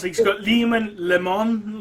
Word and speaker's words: Leman: you e e e I did used to pronounce Leman as lemon Russ yeah and then I realized how silly that sound sounded we got well even he's not he got lemon leemon like lemon lemon Leon